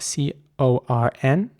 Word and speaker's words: corn: And speaking of the word corn, it's important to pronounce the C at the beginning like a K. So the word is spelled C-O-R-N, and you have to pronounce it like a K though, so it's corn.